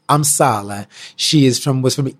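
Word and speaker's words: Amsale: what is that okay okay okay I apologize am sale her name is actually actually pronounced I'm Sala she is from was from was from Ethiopia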